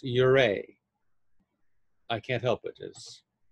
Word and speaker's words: Ouray: the town's name is spelled o-u-r-a-y but it's pronounced your a i can't help but just elena hearst would